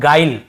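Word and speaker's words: guile: देखिए इससे हम पढ़ रहे हैं गाइल है ना, ग्विल या ग्विले ऐसे नहीं पढ़ रहे हैं, ई को भी लास्ट में नहीं पढ़ते हैं, केवल गाइल ऐसे पढ़ रहे हैं, गाइल।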